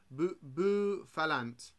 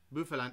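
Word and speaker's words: Bouffalant: It's pronounced Bufalant. Bufalant. Oh, like Buffalo, got you.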